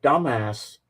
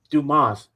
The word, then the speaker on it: Dumas: by by the author Alexander Dumbass because it was pronounced dumas because it's French but there and the